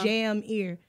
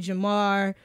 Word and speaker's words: Jamear: get everything but Jameer my name is spelt like how you say it's Jam ear but people call me Jamar like they had an extra a it's rough against room